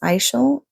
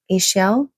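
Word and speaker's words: Ixchel: I think it's pronounced Ishel, Ishel, the ancient Mayan moon goddess, renowned as cosmic midwife and rainbow weaver, offers you her protection and guidance.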